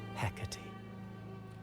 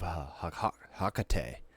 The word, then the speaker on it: Hecate: Hecate. Hecate. So that's how you say it. I was thinking of Hakate or Hecate.